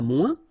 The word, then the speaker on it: moins: Okay, so le moins, remember when we combine this O-I-N together, we get the sound ouin, ouin, ouin, okay, and we don't pronounce this final S. Le moins, la moins, les moins.